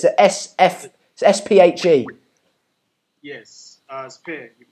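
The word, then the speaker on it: Sphe: Sophie, how are you? Is it Sophie? Yeah. Hey, stand up. Oh, not Sophie. It doesn't sound like a Sophie, but it's a S-P-H-E. Yes, Spear.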